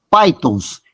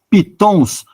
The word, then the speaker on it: pythons: já na Ásia e na África existem as pythons e se escreve p y t h o n s pythons nós podemos dizer em português pitons mas o correto a pronúncia Python e o